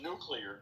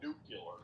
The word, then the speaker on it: nuclear: It's nuclear, not nuclear. Nuclear.